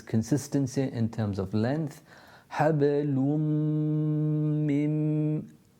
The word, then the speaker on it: حبل من: Hablum mim. There's consistency in terms of length. Hablum mim. Pronounced from the meme and then going on to another meme.